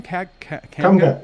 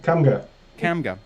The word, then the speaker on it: Kamga: Kamga. Kamga.